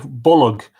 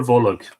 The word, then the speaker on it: Bolg: Other words like Bolg with a secret extra syllable: Barbara, Folav, Lanav, Marav, Jarfa, Donacha, Shelig, Jarug, Aragad, Dorka, Colum, Anium, which is name, Gorum, which is blue, isn't it?